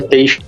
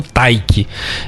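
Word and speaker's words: Teich: Nelson Teixe, a pronúncia é Teixe mesmo. Eu vi no jornal falando Taik. Eu li aqui, escreve-se Teixe.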